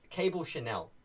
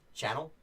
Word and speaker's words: Chanel: His partner is Cable Chanel, but everyone keeps mispronouncing it Channel.